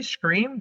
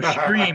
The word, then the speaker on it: Stream: Scream? Didn't they make that already?" No, Stream with a T.